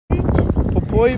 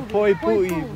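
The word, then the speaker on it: Poipu: what's this beach beach poy Beach po pu Beach I oh oh po pu okay that's how you pronounce it J Pap beach look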